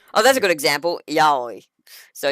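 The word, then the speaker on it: yaoi: case for liking oh that's a good example yahi so yahi is a fun one y a o i so it is a Japanese word it is pronounced yahi like the mythical creatures in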